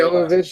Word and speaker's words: Jovovich: And you already know, fucking, was Emilia Jovovich? I forget how to say it. Jovovich, yeah.